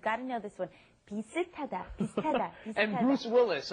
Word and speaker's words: 비슷하다: Notice the pronunciation might seem a little strange. 비슷 ends in a shit, an S right. sound, right? But then it comes up against the hit in hada, and then it becomes ta, pisitada.